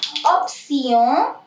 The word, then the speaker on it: option: ऑप्सियों, ऑप्सियों, ऑप्सियों means ऑप्शन, spelling same है बट आप इसको पढ़ेंगे ऑप्सियों।